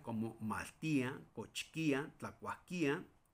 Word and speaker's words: maltia: Sí, maltia. Escuchen cómo lo estoy pronunciando. Maltia, ¿sí? Esa i que es y sí.